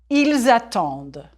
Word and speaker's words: attendent: Prononcez, s'il vous plaît. J'attends, tu attends, il attend, nous attendons, vous attendez, ils attendent.